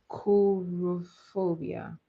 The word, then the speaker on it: coulrophobia: So the fear of clowns is actually called coulrophobia. It's spelled Coulro and phobia.